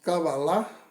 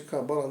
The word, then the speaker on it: Cabalá: A pronúncia correta no hebraico é realmente cabalar. Não existe cabala no hebraico, segundo todos os estudiosos, né? E não cabala, como se costuma pronunciar aqui no Brasil, né?